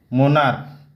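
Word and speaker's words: monarch: जैसे मोनार्क, मोनार्क होता है, यहाँ का सी एच क उच्चारण होते हैं इसलिए वहाँ एस नहीं लगाया जा सकता.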